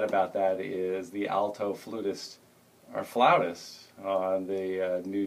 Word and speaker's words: flutist: new Jazz thing and it's flutist it's flutist okay great even though uh sometimes it's spelled with f La Au yeah well Webster's Dictionary says you can use either or and James gway did the word study and said in this country it's fluish man excellent he said